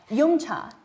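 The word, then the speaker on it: yum cha: dium culture which is referred to as um Yuma in canones do I pronounce it right absolutely abolutely so tell me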